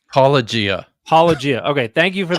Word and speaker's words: Paulogia: I'm going to butcher the pronunciation. Is it Paulogia or Apologia? It's Paulogia.